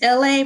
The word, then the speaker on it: LA: My name is LA, pronounced like LA like the city.